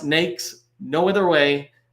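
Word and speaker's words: NAICS: a really important one used multiple ways it's pronounced nakes no other way nakes code like snakes and then the PCS is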